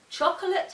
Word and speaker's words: chocolate: And chocolate has 3 syllables, not 2.